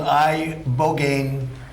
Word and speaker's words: ibogaine: In 2024 study from Stanford University, 30 special operation veterans with traumatic brain injuries underwent, it's called ibogaine treatment. Ibogaine. Remember the name. Is that pronounced relatively properly, would you say?